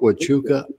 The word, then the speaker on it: Huachuca: part of my life no one told me that you pronounce an h with a w you know i think